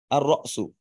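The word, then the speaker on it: الرأس: জিনিস একটু খেয়াল করি আলিফ লাম র আসছে তাইলে রতে আমরা ইদম করব আরর আরর তারপরে হামজার উপরে যদি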